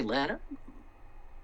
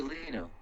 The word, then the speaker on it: Leno: Jay Lena. How do you say his name? Jay Leno.